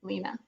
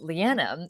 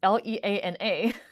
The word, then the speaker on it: Leana: Although the way that it's spelled, it's always mispronounced as Leanna.